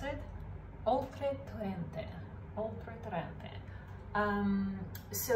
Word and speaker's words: Oltretorrente: And then the producer is, I've written it down, for some reason I'm struggling to pronounce it, Oltretorrente. Oltretorrente.